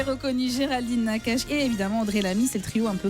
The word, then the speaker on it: Audrey Lamy: pas André Lamy. Non, rien à Audrey. voir. Ah oui, Audrey Lamy. Ah oui, je l'ai mal prononcé.